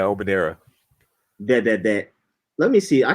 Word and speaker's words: Omonira: How you pronounce Omonira? Yeah, Omonira.